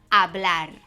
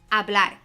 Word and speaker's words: hablar: The verb hablar. Hablar. By the way, that H is silent.